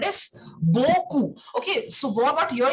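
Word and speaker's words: beaucoup: So very much is called as Goku. Okay. So what what here you do is uh you do not pronounce the P alphabet.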